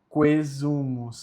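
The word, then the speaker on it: quaesumus: Quesumus salutis nostra, quesumus, tá? O A ele é mudo porque ele está próximo da letra E. Então é quesumus.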